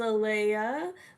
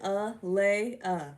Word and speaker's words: Alayia: My name is Aliyah, okay? That's how you pronounce it. A-le-ah, okay?